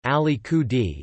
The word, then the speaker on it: Alicudi: Alicudi, Italian pronunciation, Alicudi, is the westernmost of the eight islands that make up the Aeolian archipelago, a volcanic island chain north of Sicily.